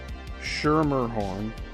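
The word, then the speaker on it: Schermerhorn: The Coast Guard discovered it belonged to David Shermerhorn, and that last name is spelled S C H E R M E R H O R N.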